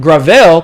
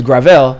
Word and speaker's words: Gravel: at one percent Mike Gravel because everybody's been getting onto me by pronounce pronouncing his name wrong his name is gravel not gravel he's doing better than